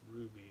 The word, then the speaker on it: RWBY: expensive it's expensive that's kabuto okay rwby is pronounced ruby it's an anime oh okay then no i